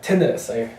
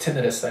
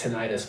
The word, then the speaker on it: tinnitus: and my ear had tinnitus. I learned it was pronounced tinnitus. I've been pronouncing this tinnitus my whole life, but it's pronounced tinnitus.